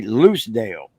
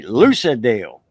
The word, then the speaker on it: Locale: from that area and in Locale they don't say Locale they say luciale or you know luciale instead of Locale it's a hard one